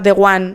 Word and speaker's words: Deroin: datos del libro, que aunque se diga The One, se escribe Deroin, para que lo veas.